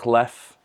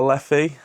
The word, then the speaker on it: Leffe: in, I do quite like Leffe or Leffe. I've heard it pronounced both ways. I usually say Leffe.